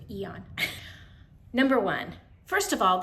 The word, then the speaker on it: Aeon: that I chose Eon and I said it right too Eon number one first of